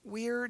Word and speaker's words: we're: We plus are we're done our work. Now, it looks almost the same as were, W-E-R-E, but that apostrophe makes all the difference. It changes how you say it, and it changes what it means, okay?